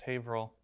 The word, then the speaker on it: Haverhill: it's pronounced worcester and i know that it's pronounced haverhill and you might trip on those so we're